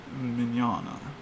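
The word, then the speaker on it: Mignola: you got it but um oh uh mike mignana that's how i was taught to pronounce his name uh mike um he's freaking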